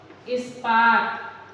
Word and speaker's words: इस्पात: अब हम देखें कि ई की ध्वनि के साथ स है, तो हम कौन कौन से वो ऐसे वर्ड हैं जो ध्वनि हमारी ई की ध्वनि रहेगी, उच्चारण हम ई की ध्वनि के साथ करेंगे और ई लिखेंगे भी। जैसे इस्पात, देखिए स के बाद प आया है, प आपका क्या है, प स्पर्श व्यंजन है, लेकिन यहाँ हमने ई